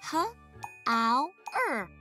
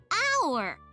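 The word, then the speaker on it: hour: How-er. No, wait. You don't say how-er. You say our. Our. The H is definitely the silent letter.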